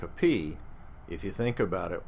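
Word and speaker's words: π: what you learned as Pi we pronounce it's called the Greek letter is called p and it's pronounced P so when when you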